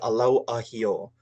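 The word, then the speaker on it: ʻalauahio: So I usually try to slow this down really slowly for pronunciation. Just focusing on the Alau Ahio.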